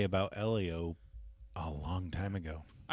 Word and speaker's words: Elio: I know uh a lot of people I talked to didn't know how to pronounce the name. They kept saying Ilio and I go I get where your mind would go because of how the English language works, but also this is